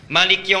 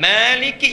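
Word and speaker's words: مالك: sampai arrahmanirrahim itu sama Maliki yaumiddin bisa dibaca dengan dua cara panjang Maliki yang kita baca bisa pendek riwayatun Maliki yaumiddin boleh ya ilmunya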